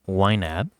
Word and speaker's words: YNAB: you what y NAB stands for it's actually pronounced wab and basically stands for you need a budget